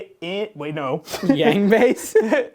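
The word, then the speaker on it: Yaung Bass: The name is Young Bass, and it's spelled wait, no. Yang base? All right, really. Y-A-U-N-G bass. Yang base. It's Young Bass.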